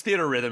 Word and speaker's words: Theatrhythm: Rhythm theater really yeah it's theater Rhythm officially and I had to